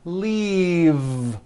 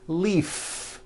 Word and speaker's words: leave: The word is leave with a voiced V. Keep the voicing going throughout the whole word and voice the V. Leave, like that. If you stop the voicing at the end of the vowel E, then you would be saying leaf with an unvoiced F. And the word we're trying to say is leave with that voiced V.